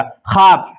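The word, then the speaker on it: خواب: ये वाव पढ़ा नहीं जाएगा। ख्वाब ऐसा लगता है क्यों लिखा हुआ है। है ना? ख्वाब ख्वाब आ साकिन ख्वाब। लेकिन ये क्या लिखा हुआ है? खवाब लिखा हुआ है।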